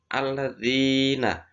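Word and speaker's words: الذين: Kemudian kasroh di situ alladzina, ilalladzina, di situ kasroh bertemu ya.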